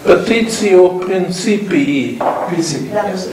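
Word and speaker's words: petitio principii: Petitio principi.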